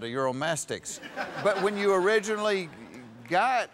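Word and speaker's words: Uromastyx: own mastics that's what exactly what i said euromastics but when you originally got her you thought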